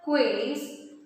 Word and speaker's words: quays: Quays, that means key. Here the key is pronounced as quays, just to rhyme with this. Clear? Hall is rhyming with the wall and quays is rhyming with the trees.